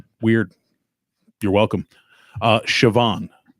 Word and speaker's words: Siobhan: si OB h am Siobhan it's Gaelic Celtic I get the bond part now it's it's but it's pronounced Siobhan spell it's pronounced with a V okay cuz the Irish